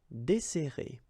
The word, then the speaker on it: desserrer: and we'll get this desserrer, desserrer. Okay, so we've got this double S, so it will open the sound of the here. That's the reason why I pronounce it like e.